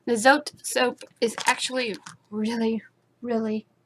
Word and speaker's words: Zote: But this bar of soap, the Zote soap, it rhymes. The Zote soap is actually really, really good.